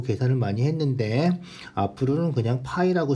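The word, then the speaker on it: π: 배웠죠 초등학교 때 배웠어요 파이라고 읽죠 파이 자 지름의 길이에 대한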